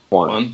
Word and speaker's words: yuan: So but the industry is worth over $26 million, so 180 million yuan. I don't know what to pronounce this. Guys, help. Yuan? One.